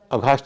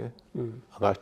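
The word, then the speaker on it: aghast: का उच्चारण नहीं करना, तो जब अगास्ट शब्द आएगा तब आप अघास्ट नहीं बोलेंगे, अगास्ट ही बोलेंगे।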